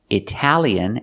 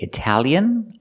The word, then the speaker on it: Italian: between the pronunciation of Italian and Italy check out the link in the description so remember pronunciation you can say Italian or Italian both pronunciations are correct but this is not